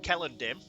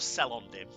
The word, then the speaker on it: Celondim: you cardor um yes Kell andm even though it begins with the c it's pronounced Kell so bit more Elish